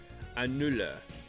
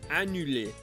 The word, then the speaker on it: annule: Annula. Hey, I was close. I keep reading. You don't actually pronounce the R's in French. Annule. Yeah, annule.